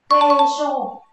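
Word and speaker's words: 軽傷: Kê-sô, đúng không? Vết thương nhẹ là kê-sô nhé, chúng ta dùng hai âm ô chúng ta ghép với nhau.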